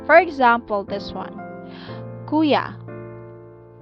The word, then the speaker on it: kuya: we call it malumai so about stressing the second to this last syllable and in that case the accent mark is usually omitted or not written for example this one kuya kuya okay so so